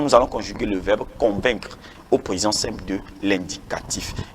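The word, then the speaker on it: convaincs: allons conjuguer le verbe convaincre au présent simple de l'indicatif. Il y a des gens qui disent voilà. Donc je convainc, il y a le CS qui ne se prononce pas pour le je convainc,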